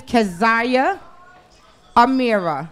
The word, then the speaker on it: Keziah Amirra: tell the people everything okay my name is kazaya Amira right it's spelled k e z i a h a